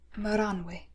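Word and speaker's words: Maranwë: is your name you may call me uh maranway how do you spell that m-a-r-a-n-w-e with an um loud over thing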